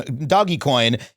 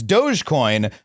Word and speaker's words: Dogecoin: the wrong stupid way it's not doggy Co doggy coin it's Dogecoin which is just a completely different dumbass way to say that